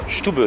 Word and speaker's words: Stube: Stube, c'est comme ça qu'on prononce.